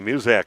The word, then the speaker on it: Muzak: Looks like she's going to be okay, but Lily Muzak comes in, and I ask, is it just like that music service, Muzak? And she says, yeah, that's what it's exactly how they say it.